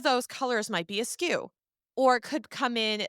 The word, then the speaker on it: SKU: of your product now SKU is spelled SKU and it stands for stock keeping unit a skew is a fancy way of saying A variation so if you